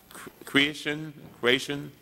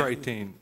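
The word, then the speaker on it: Chretien: Deming, this report says that it is from Paul Creation. You know him? Say that again. I'm probably pronouncing his name wrong. Paul, C-H-R-E-T-I-E-N. Creighton.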